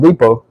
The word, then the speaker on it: depot: The T is silent on depot. That's French, right?